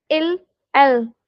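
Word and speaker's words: ils: Next, ill l with s. You you don't have to pronounce it ills or else. You just have to say ill l because in French the final s we don't pronounce.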